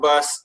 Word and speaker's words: BAS: Bay Area Serbs is also known by its abbreviation BAS, pronounced as BAS. And for those of you who do not know what BAS is, it is a